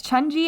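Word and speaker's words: 천지: Yeah, it's Chunji in Korean and Tianchi in Chinese.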